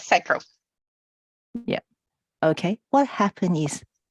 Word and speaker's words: sacral: Energy Center Orange and I pronounce it Sacra am I correct Tamara Michael yeah very close sacral yeah okay what happened